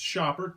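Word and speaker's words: Schaper: I'm here with my son, Shawn, and today we're going to be checking out The Last Straw, the camel game from Shaper, pronounced Shopper, terrible game company name.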